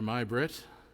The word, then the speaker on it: May Brett: his uh producer there my brit um it's spelt may brett but it's pronounced my brit they do a great